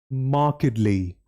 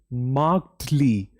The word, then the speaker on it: markedly: Markedly. We don't say markedly. The correct pronunciation is, repeat after me, markedly. Once again, markedly.